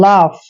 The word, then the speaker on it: laugh: Next है LAUGH मतलब लाफ। लाफ, जहां पर भी UGH इकट्ठा आता है तो इसका उच्चारण करते हैं फै, लाफ।